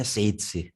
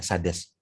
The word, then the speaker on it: Sades: yang pertama ini adalah Shades Indonesia yakin cara bacanya size tapi ya dalam rangka melokalisasi pelafalan ya Kita mengucapkannya Sades ya Jadi ini adalah microphone